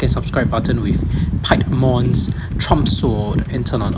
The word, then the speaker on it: Piedmon: So if you pronounce it by the English way, it should be called Piedmon because it's based on Pied Piper. But if you use the Japanese name, it should be Piemon.